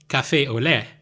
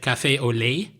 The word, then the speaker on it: café au lait: So instead of café au lait, which is how you pronounce it, I said café au lait.